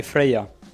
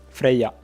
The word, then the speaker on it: Freya: So, we would say Freya. Freya. So we basically wouldn't say the Y.